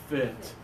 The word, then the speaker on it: fit: try this for us give us the low tone lots of air fit really good I